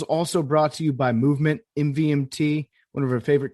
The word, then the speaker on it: MVMT: MVMT pronounced movement grew into one of the fastest growing watch brands shipping to over 160 countries across the globe.